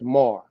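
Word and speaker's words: מר: It says the Mishnah Hebrew through the day, this Aramaic word is pronounced mar, with an A first, mar.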